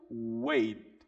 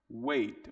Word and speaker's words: wait: Então aqui o verbo wait. Wait, wait. Você vai falar wait, wait. Jogando essa força no T. Vai falar wait. Joga a língua para cima e finaliza.